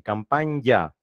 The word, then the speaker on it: campaña: Esa N con Y es lo que más se acerca a una ñ, campaña.